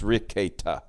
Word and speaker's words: Rekieta: It's Nick Rekieta. That's how you pronounce. It's Rekieta.